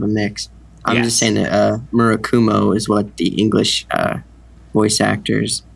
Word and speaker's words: Murakumo: pointed out is that there actually is not any accentuation on any of the syllables so you should pronounce it as flatly as possible but I think Cole